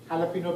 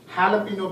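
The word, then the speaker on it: jalapeño: and gave the order Jalapeno bagel with cream cheese after a lot of prompting my wife told me that I saw the pronunciation it should be Jalapeno bagel with cream cheese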